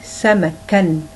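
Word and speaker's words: سَمَكًا: Donc cette double voyelle change la prononciation de cette lettre. Donc quand on prononce ici le mot samak, donc on dit samakan.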